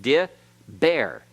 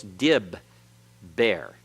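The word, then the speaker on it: דִּבֵּר: the begad cafes letters so how do we know it isn't just dear bear because the hearing is not a Hirakud a Hiroki ode is a long vowel that can close a syllable but the hearing normally by itself is considered a short vowel and therefore can't form a open syllable it has to be closed so it's Dib bear okay it's the first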